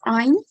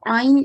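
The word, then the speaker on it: ع: we pronounce i incorrectly the correct way to pronounce it is to pronounce it from the middle of the throat and it is one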